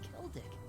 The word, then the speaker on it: Celdic: The next stop is Celdic. Okay, it's a hard C.